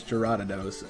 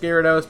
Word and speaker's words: Gyarados: would recommend number three jaradidos yes i typically pronounce it as juradados and i know it's actually pronounced gyarados but don't be too mad at me gyarados